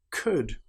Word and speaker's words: could: Another time when the letter L is not pronounced is when we have the letters U, L, D. For example, the word would, could, should. In these cases, again, the L is completely silent.